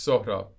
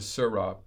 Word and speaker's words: Sohrab: It's not pronounced the way it's spelled. English letters don't make those sounds.